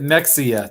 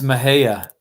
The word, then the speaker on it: Mexia: it's it's called met you would pronounce it Mexia Texas but it's Mejia and I remember when